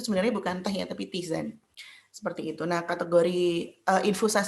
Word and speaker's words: tisane: Nah, kemudian ada yang ketiga tuh namanya tisane, bacanya tisane ya.